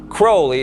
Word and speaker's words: Crowley: in his name some people pronounce this name Crowley and some Crowley in his own writings he said it's pronounced Crowley it runs with Holy One Day in Cairo